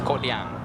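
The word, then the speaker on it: Kodiang: It says Koh Diang, Denny, but the correct way of pronunciation is Koh Diang. Koh Diang. Koh Diang. There's like a K in front of that O.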